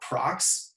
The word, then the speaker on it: Prox: and that's another thing so prox and and ufo are pronounced differently than it is here in america so it's pro x and ufo yeah um and then like